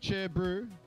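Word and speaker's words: Chur Bro: side fpv with the cher brew that's uh new zealand to speak for cheers bro but it's pronounced with only uh two syllables all right chef's still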